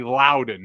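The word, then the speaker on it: Loudon: It's not the It's definitely Louden, not London.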